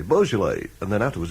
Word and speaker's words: Beaujolais: so it would say beaujolais and then afterwards it would say b.o.w little line j-o-l-l-y bull jolly kind of thing you know and it